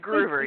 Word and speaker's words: Gruver: I want to do is make sure i pronouncing your last name why is that clever it is groover yes ruber okay like Ruby macgruber I'm you